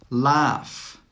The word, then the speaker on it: laugh: Laugh, laugh. Tough, tough. The GH in all of these words is actually pronounced as an F. That means the sound is a F sound.